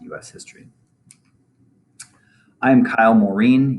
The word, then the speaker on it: Morean: history i am kyle mourin yes i pronounce my last name morin i use he him